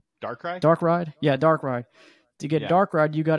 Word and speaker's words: Darkrai: legendaries and to get Darkia from Diamond Pearl, the Shadow Legendary. I feel like I'm saying his name wrong. Darkrai.